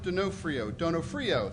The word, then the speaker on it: Donofrio: Donofrio, that's how you pronounce it, who holds the position of the Director of Microbiology and Molecular Biology at NSF International.